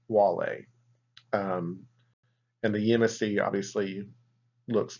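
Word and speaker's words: Guale: them the wall a it is spelled with a G but is pronounced wall a and the USC obviously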